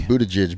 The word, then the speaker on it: Buttigieg: I don't know how to pronounce his last name. Buttigieg.